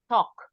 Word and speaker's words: talk: Talk. We don't pronounce the L.